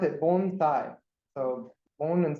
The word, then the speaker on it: bonsai: all right so bonai I guess first you pronounce it bonai so bone and S not not Bonsai or but bonai so that's the proper pronunciation